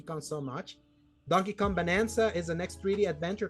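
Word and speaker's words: Bananza: And that's bonanza. Like a banana. Yeah, banana. Exactly. Yeah, bonanza. Yeah, bonanza. It's like playing on playing on the words. How everybody already pronounces it anyway.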